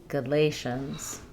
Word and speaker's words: Galatians: We have Galatians with the stress on the le syllable. First a says uh galations. Galatians.